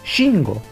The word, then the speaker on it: Shingo: Y bueno, a Shingo dicen Shingo, que está mal pronunciado. Es Shingo.